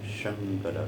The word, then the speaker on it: संकर: देखिए दो शंकर हैं, एक शंकर जो नमः शंभवाय च में हम संध्या में पढ़ते हैं, वो तालव्य श से शंकर इसका उच्चारण है, और गीता में ये जो शंकर आया है ये दंत्य स से बना है।